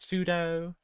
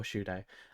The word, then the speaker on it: Shudo: Uh, you had Pseudo, you had was it Pseudo or Shudo?